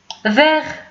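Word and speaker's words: vert: فيغ كتعني اخضر، ديك التي ما كتبانش في النطق.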